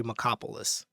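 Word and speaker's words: Markopolos: Frank then gave the one-page tear sheet of Bernie's feeder fund to Harry Macopoulos, whose name is actually spelled like Marco Polo.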